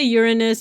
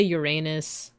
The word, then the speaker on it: Uranus: And it says that both pronunciations are fine. You could say Uranus, you could say Uranus.